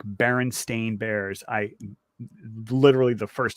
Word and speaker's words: Berenstain: very old memory that no it's Baron stain it's always been Berenstain Bear it's bears bear and Stein yeah no but I mean but but the last name is usually spelled like Bernstein you know like the composer oh okay doctor it's Bernstein but it's s-t-a-i-n and and that that's